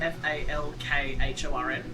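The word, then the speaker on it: Falkorn: then Falkhorn is Falkhorn.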